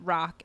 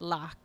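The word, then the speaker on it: รัก: You hear some people pronounce it rock and some people pronounce it lock. And it's like, it's technically somewhere in between the two is the pronunciation.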